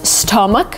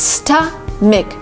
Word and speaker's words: stomach: A lot of people pronounce it as stomach, which is not right. It's stomach, stomach. Try to pronounce it with me, stomach. So it's gonna sta with an A, sta, and then mic with an E, stomach. My stomach is full.